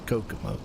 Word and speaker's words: Kokomo: the race of how to pronounce Kokomo or ogumo and it's a Kokomo well I never really heard it pronounced and I was out some of the